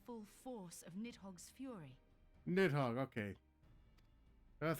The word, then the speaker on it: Nidhogg: Nidhogg, okay. That's how you pronounce it.